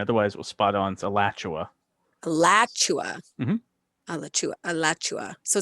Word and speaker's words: Alachua: give you that because the the the a pronunciation otherwise it will spot on Alachua alatua ALU alatua so it's also like where